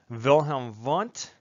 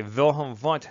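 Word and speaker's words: Wilhelm Wundt: because he's german so in german you pronounce the w's like these all right so i say wilhelm vant that tends to stand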